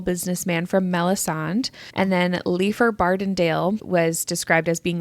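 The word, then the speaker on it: Leighfer: the immensely powerful businessman from melison and then leafer bendale was described as being like good friends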